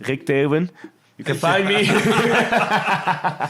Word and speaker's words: Teeuwen: I'll let Rik do it because I wasn't doing a good job pronouncing it. It's Teeuwen.